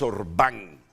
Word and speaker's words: Orbán: década de gobierno de Víctor Orbán. Me disculpan la pronunciación primera, es Orbán. Lleva acento en la no tiene un rostro